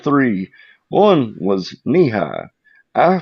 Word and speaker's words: Nehi: One was knee high. I pronounced it in my head Nehi for at Oh least my a God.